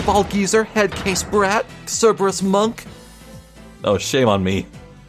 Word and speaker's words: Cerberus: Lobster boy, cue ball geezer, head case brat, Cerberus monk. Oh, shame on me. Okay, wait, why is she calling him that? He has one head. Anyway, it's pronounced Kerberos, thank you very much.